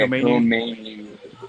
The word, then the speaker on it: Koma Inu: It's KOMA INU. Is that right? Yeah, KOMA INU.